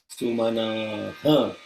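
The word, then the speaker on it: सुमनः: You have to say Manaha, Sumanaha. Visarga should be pronounced completely, not Sumanaha, Sumana.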